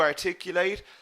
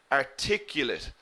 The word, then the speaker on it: articulate: Remember, the adjective we pronounce differently. Articulate. Articulate. We put the stress in the second syllable. Okay? Exactly, Aziz. We stress the late in the verb.